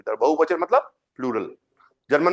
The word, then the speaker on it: Plural: बहुवचन मतलब प्लूरल। German में क्या बोलते हैं प्लूरल को? प्रोनाउंसिएशन क्या होता है? प्लूराल। आल, ए एल आ गया तो प्लूराल। प्लूराल।